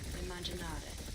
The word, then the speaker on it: immaginare: Now imagine has two M's in Italian. You will pronounce those both.